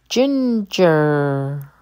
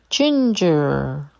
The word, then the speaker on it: ginger: gather gather Ginger the G sounds like a j Ginger hanger hanger